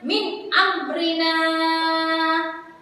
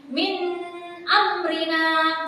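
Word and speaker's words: مِنْ أَمْرِنَا: Contohnya min amrina. Saya ulang, min amrina. Sekali lagi, min amrina. Tidak boleh dibaca dengan berdengung seperti ini. Min amrina. Salah, tidak boleh dibaca seperti itu ya.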